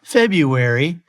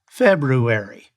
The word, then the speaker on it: February: There's also an R in February. It's not February, it's February.